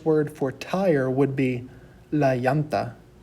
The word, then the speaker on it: llanta: A lot of people would pronounce this la llanta.